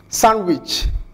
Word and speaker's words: sandwich: Handkerchief sandwich wednesday xarafka da ayaa dhawaaq ahaan la qarinaya